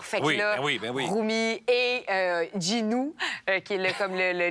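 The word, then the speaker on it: Jinu: plus du monde mais c'est Ginu J I N U mais qui prononce Ginou mais ça faisait beaucoup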